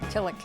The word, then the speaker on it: Tillich: Tillich. Tillich. Thank you. Did that wrong last time. I have a tendency to mispronounce like everybody's name.